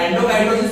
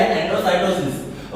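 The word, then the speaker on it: endocytosis: एंडोसाइटोसिस और एंडोकाइटोसिस दोनों बोल सकते हैं हम लोग, पर हम बोलेंगे एंडोसाइटोसिस। ओके, सो amoeba acquires its food through such processes.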